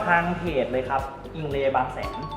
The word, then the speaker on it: อิง: a y เนาะ แต่ ภาษา ไทย อ่าน ว่า อิง นะ อิง อ่า อิง อิง ที่